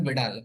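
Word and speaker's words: Widal: एंड इसका confirmatory test का नाम याद करो, विडाल टेस्ट, इसका प्रोनाउंसिएशन है विडाल, वाइडल नहीं पढ़ेंगे, ठीक है, वी डाल।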